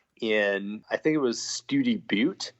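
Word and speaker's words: Study Butte: I think it was study Bo which is spelled like study and then Buu tte okay there's a wide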